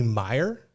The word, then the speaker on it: Meier: got another guy too right we got jeremy meyer is that right did i pronounce it right you did oh right who